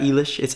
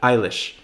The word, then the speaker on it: Eilish: a video on Billy Eilish in the past that people were all up on me for saying the name wrong it's Billy Eilish right not ela shit's Eilish okay but look